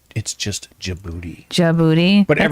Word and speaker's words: Djibouti: Djibouti? There's no D. The D is there, but you don't pronounce it.